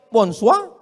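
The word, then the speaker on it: bonsoir: Emangnya bahasa Perancis mudah tulisannya bonur bacanya bonjou. Bon soir, bonsa. Jangan pelajari bahasa-bahasa orang kafir ini.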